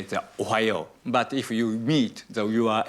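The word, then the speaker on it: おはよう: How do I pronounce good morning? Ohayo. Ohayo.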